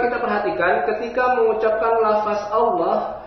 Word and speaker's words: Allah: Juga kita perhatikan ketika mengucapkan lafaz Allah, hati-hati jangan sampai tertarik bunyi A-nya sehingga terikut tebal. Contoh, berbunyi O, bukan O tapi A. Baru setelah pengucapan A yang sempurna, masuk ke dalam lam tebal.